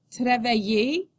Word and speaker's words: travailler: In the middle of a word, the letters I-L-L usually represent the sound y, like the y in yes. Repeat after me. Maillot, maillot, travailler, travailler, oreille, oreille, vieille, vieille, fille, fille, famille, famille, juillet, juillet.